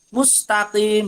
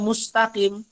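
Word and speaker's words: مستقيم: dan sout pada mustaqim dibacanya Mus Mus Takim dibacanya mustaqim kalau must bibirnya gini Mus itu jadinya huruf shod kalau Sin Mus Mus nah ini contoh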